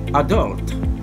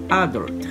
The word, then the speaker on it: adult: talk about this word in british english this word is pronounced adult in american english this word is generally pronounced adult number three let's look